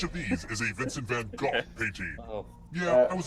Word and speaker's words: Van Gogh: If you're going to go full Dutch, it's pronounced Van Gogh.